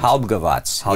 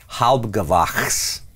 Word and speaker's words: Halbgewachs: Oh, with a V, like sound. Halbgewatz. Yeah. Halbgewatz. It's a slightly altered pronunciation of the German, which would be closer to what you're saying. Halbgewachs.